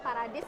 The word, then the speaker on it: PARADIS: bernamaad paradis paradis ini kalau misal kita lihat secara aksen bahasa Inggrisnya Paradise gitu Yai ini emang pengucapannya paradis ya parad Apa itu singkatan